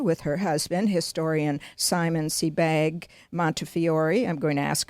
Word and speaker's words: Sebag: And did I pronounce Simon's last name properly? Is it Sebag?